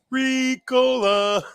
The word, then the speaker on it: Ricola: Yeah, what's the actual pronunciation of this cough drop? Ricola.